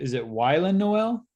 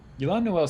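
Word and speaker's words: Y'lan Noel: Yolan Noel sounds better than Wylan, which is what I had first said.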